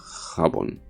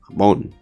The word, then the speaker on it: jabón: Well, use the same O in jabón. So, jabón. Or jabón, actually. Like a soft accent, let's say.